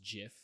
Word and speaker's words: GIF: Graphics interchange format yeah gif Graphics uh but apparently the creator of GIF said it was pronounced Jiff so no he did